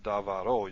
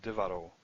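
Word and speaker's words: דְּבָרוֹ: You put o on it, you don't get davaro, you get divaro. And if I split this, here's your first syllable, divaro. So this is propretonic, it's 2 back from the tonic syllable. And it's got a comets there, not a mater or something. So the comets changes, so reduces.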